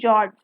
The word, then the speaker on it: fjords: F is silent, remember fjords.